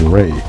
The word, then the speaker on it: Ra: of life and growth which is pronounced as ray has in the Rays of the Sun the reverse of